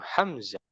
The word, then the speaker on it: حمزة: Hamzah enggak panjang. Hamzah.